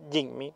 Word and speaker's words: Jimny: Bueno, ya en la prueba de manejo de este Suzuki Jinmi, creo que se pronuncia Jinmi, no Jimmy, pero no.